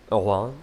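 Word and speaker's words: Oran: former French colony of aonan I believe is how you say it of course oron is in modern day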